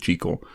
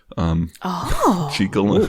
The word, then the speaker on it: Jekyll: Sorry, that's the thing, they pronounce it Jekyll. Jekyll.